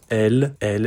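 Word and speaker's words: elles: And elle. It's the same pronunciation as the third person of the singular, but when we write, we will have to add this little S.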